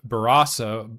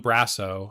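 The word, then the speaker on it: Barrasso: It seems like uh the legislation introduced by Senators Andy Kim, Cynthia Lumis, Andy Schiff, and John Barasa, uh John Brasso, I believe is how you say that, uh was referred to the Senate Committee on Commerce, Science, and Transportation on July 22nd, 2026.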